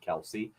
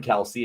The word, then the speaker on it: Kelce: the planet uh but fun fact their last name isn't it's Kel and philadelphians just started calling him Kelsey and he never corrected him so now they're kelse